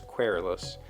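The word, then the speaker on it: querulous: the pronunciation case is the pronunciation guide says querulos but Coralis with that if you wanting to quarrel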